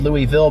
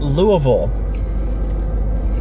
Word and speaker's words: Louisville: by the way I know anywhere else is pronounced Louisville but in Kentucky we pronounce it Louisville I wish people would get that answer sales